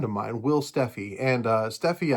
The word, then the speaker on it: Steffi: But this last week, all this started with a friend of mine, Will Steffi, and Steffi, I found out, by the way, is actually how he pronounced his last name, but he never wanted to correct anybody, so I thought that was kind of funny.